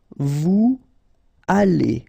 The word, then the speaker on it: vous allez: Then vous allez. Remember a Z at the end here will give you this A sound.